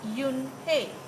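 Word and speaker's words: Unhei: turned to Joey she nodded slowly yes it's pronounced Yoon hey it means Grace Mr Kim's added Yoon hey Joey said slowly and this time perfectly it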